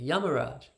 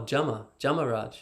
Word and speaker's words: Yamaraj: In the Bengali, the Y at the start, they'll say Jama. So you go to Bengal, say Yamaraj. So, and they'll say, oh, Jamaraj, yeah, Jama. Right? So that's how they pronounce it.